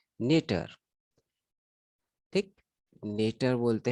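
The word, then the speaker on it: neuter: नेटर बोलते हैं, कई लोग इसको न्यूचर बोलते हैं, बट इसका एक सही प्रोनाउंसिएशन जो है वो नेटर ही है।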